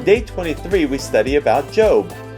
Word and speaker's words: Job: On day 23, we study about Job. Actually, it's pronounced Job.